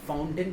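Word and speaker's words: fountain: ठीक, तो जो फाउंटेन है उसके अंदर FOUN पर तो स्ट्रेस आएगा, TAIN पर स्ट्रेस नहीं आएगा, इसलिए उसको पढ़ेंगे हम फाउंटेन, फाउंटेन।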